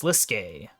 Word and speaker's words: Slisk: never heard of them it's pronounced sliskey whoever they are they